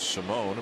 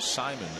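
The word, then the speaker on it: Simón: ALFREDO SIMON WHO USED TO BE PRONOUNCED SIMON BUT HE'S CHANGED HIS DESIRED PRONUNCIATION TO SIMON AS OF LAST YEAR AND NOW UP IN THE PEN.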